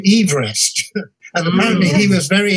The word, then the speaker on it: Everest: it's george everest and geographer and he he pronounced his name everest and apparently he was very irritated when people